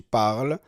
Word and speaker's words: parles: Luego para pronunciar decimos je parle, tu parles, il parle, nous parlons, vous parlez, il parle. Lo que está en azul no se pronuncia.